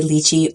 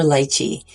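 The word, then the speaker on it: lychee: For those of you wondering, you can say lii or lchi. Lei is how you say it in Cantonese and Luchi is closer to the way that it sounds in Mandarin.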